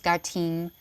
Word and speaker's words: geim: first cultural language spoken this word is geim pronounces gim the voice speech or